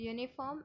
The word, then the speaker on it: uniform: The uniform is pronounced as u, not uniform. Okay, there's a consonant sound, not an uniform.